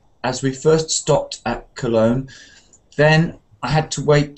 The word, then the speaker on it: Cologne: English no no well first of all it's not Kern it's cologne colog so we